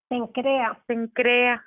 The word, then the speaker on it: Cencrea: Cuando llegaron a Cesarea, ay, es que nunca puedo pronunciar eso, ¿Cesarea o cómo se dice? Cencrea. Este es otro, Cesarea, nada que ver, ¿verdad?